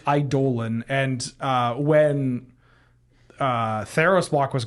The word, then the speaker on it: Eidolon: Okay, yeah, I think technically it's Eidolon, and when Theros block was going around, there was like a very kind of like, hey, please call the cards by their names, and like Eidolon, you know, and people are like, it's Eidolon, Yeah.